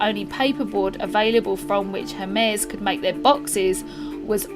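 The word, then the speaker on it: Hermès: Hermes, I think it's spelt the same, but it's got an accent on it. I think you say Hermes, which is a luxury clothing brand which I think they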